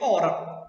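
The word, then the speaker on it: hora: Olhe que esse H aqui, ó, eu não pronuncio. Se eu não pronuncio, então ele não vai entrar como fonema, beleza? Então só vai entrar como fonema a parte que eu pronuncio. As letras não, elas vão ser contadas. Normalmente, conta letra por letra. O fonema é a parte que eu pronuncio. Você pode olhar que eu só pronuncio ora. O-R-O-R-A. Esse H ele não é pronunciado.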